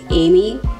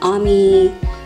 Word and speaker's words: Amy: for some people, it's a little difficult to pronounce, because instead of calling me Amy, they call me Ami or Ami, Ami.